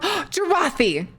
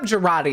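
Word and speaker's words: Jarate: Look up Jarathi. It's spelled like karate, but with a J. For TF2. Jarathi.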